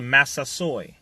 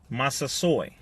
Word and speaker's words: Massasoit: have to deal with what is called the Massasoit Massasoit Massasoit yeah this is how you pronounce it 90 men one woman or the